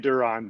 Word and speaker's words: Darren: say your name uh i say it duron but you can say